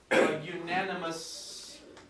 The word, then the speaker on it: unanimous: you would be a unanimous decision even though the first letter is U the pronunciation is as a consonant and so for that